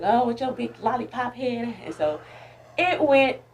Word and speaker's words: Lahlipop: my name l-a-h l-a-h-l-i-p-o-p it's lollipop and of course now